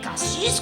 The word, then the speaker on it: Cassis: Et si tu veux passer pour un parigo, tu dois bien prononcer le S de K6 comme le font encore tous les vieux Provença et Cassis comme pastiss.